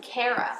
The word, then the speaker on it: Kara: My favorite character was Alex, Kara's adoptive sister.